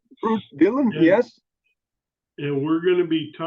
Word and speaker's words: Ruud Dielen: Is it Ruud Dielen? Did I say it right? Yes, Okay, yes, all right. Ruud Dielen, And yes.